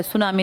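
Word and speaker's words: tsunami: हाँ, इसमें T silent है, सुनामी लिखते हैं, ये पूछ लेते हैं बहुत बार।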